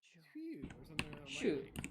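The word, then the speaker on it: sju: Shoe. Yeah, exactly. It's like my mouth doesn't work that way. Just say shoe, like shoe that goes on your feet, and it's pretty close.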